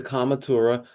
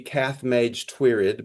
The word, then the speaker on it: Cath Maige Tuired: The Cath Maige Tuired looks like it should be Cath Maige Tuired, but it's pronounced Cath Maige Tuired.